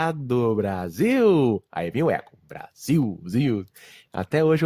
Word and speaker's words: Brasil: para vocês notarem que a gente não pronuncia esse l no final das palavras como uma consoante o som é de um então o Brasil né Taffarel Gol Mas